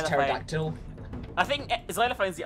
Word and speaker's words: pterodactyl: We need a phonetic alphabet that uses only silent letters. So X is xylophone. P is pterodactyl.